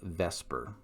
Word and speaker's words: VSEPR: possible this is the concept of vesper which is a mispronunciation of v-s-e-p-r which stands for valence